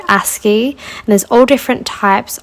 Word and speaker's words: ASCII: you can type into Google, basically it's called ASCII, and there's all different types of, I'll show you quickly here. So if you type into, it's spelled ASCII, and ASCII, I actually always thought it was ASCII, but I don't know why I thought that.